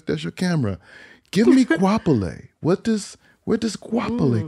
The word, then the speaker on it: Goapele: a thousand different ways it's a South African name so guapolei is how I've been